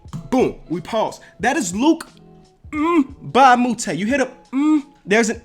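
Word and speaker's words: Luc Mbah a Moute: I think you pronounce the M. So, Luke Mbamute, all right?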